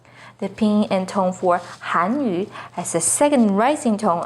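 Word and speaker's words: 汉语: embarrassment a quick example the pinging and tone for hanyu is with the fourth falling tone on han hanyu the ping and tone for hanyu has a second rising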